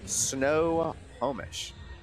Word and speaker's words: Snohomish: Is that how you pronounce it? Yeah. Snohomish.